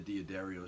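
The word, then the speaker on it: D'Addario: I do restring it, because these aren't the Diodario strings, that's how you pronounce it, by the way. I've been to the guy's warehouse on Long Island, New York, Diodario, and they're just, I guess for the price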